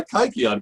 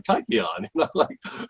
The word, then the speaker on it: kykeon: i pronounce it it's it's not the way a modern greek would pronounce it i have what's what's